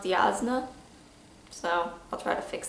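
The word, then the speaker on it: Jasnah: swear oh god also been told me it's pronounced yazna so i'll try to fix that going forward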